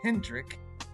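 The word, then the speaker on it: Hendrick: So they said the Dutch version of Henry is Hrik.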